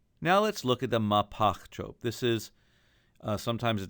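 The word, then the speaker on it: Mahpach: It's pronounced Mapach.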